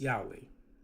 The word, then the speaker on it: Yahweh: we at least understand the beginning is pronounced ya. We understand that much. But let's say, for sake of argument, that we all agree that the name is pronounced Yahweh.